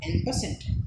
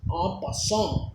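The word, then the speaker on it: en passant: am telling it as n percent but in real its pronunciation is a person it's a french word that's why uh opposition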